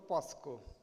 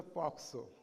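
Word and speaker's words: POCSO: बरेच medical fraternity म्हणतात POXO, कोण म्हणतात POSCO. So it is a POXO.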